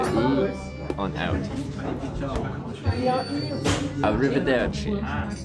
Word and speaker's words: arrivederci: I'll say bye, you can use arrivederci.